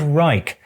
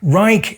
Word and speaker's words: Reich: talking about the Third Reich. And yes, Reich is an acceptable pronunciation in English. If I was speaking German, I would of course refer to the Drittes Reich.